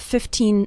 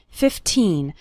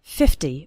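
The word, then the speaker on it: fifteen: 15 minutes a day remember to pronounce the second syllable of 15 nice and strong 15 not like 50 which is a different number 15 minutes a day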